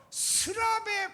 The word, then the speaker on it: 스랍: 여러분, 서랍하고 비슷한 그런 발음인데 스랍 한번 합시다. 스랍. 이 성경에서 스랍에 관한 말씀이 기록된 내용이 이사야서 6장 말씀이 유일합니다.